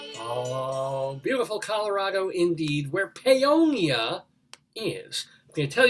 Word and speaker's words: Paonia: Paonia, Colorado. Pagonia? Not Pagonia. I'll spell it Paonia.